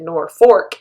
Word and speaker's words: Norfolk: where it's lk but we pronounce it nor fork even though there is no second r i think every place